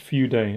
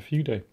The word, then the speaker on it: Fude: Pronounced Fude, apparently, when you shorten it down to, well, down to Fude.